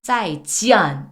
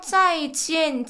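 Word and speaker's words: 再见: 중요한 규칙이 있어요 여러분 원래는 아이라고 읽어야 되잖아요요 모은 근데 아 에서는요 안이라고 읽지 않아요 그래서이 안이 아니라 앤 소리가 나와요 그래서 짜이 지안 아니고요 지엔 요것도 그냥 짜이 지엔 엔지엔 엔만 공부하면음 아이디의는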